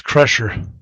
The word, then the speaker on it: Kreischer: my world uh sure I think it's pronounced crusher I think I think you're right it's pressure mines in